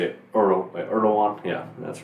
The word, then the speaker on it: Erdoğan: Is that how you pronounce his name? Erdogan, okay.